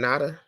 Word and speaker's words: Nada: us that that situation how you pronounce her name NADA NADA yeah so my question to